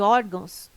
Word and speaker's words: órgãos: Item correto: caráter, intransferível e órgãos têm sua sílaba tônica na penúltima sílaba. São paroxítonas. Observação: poderia gerar dúvida a palavra órgãos, mas ela não termina em O, termina em ão.